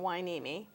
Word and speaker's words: Hueneme: little difficult word to pronounce but it's um pronounced like it has a Wy at the beginning why neimi it's an Indian name yes a Chumash name